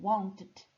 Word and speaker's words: wanted: a diferença Por exemplo quando eu digo Wanted são duas sílabas duas partes want Quando eu digo worked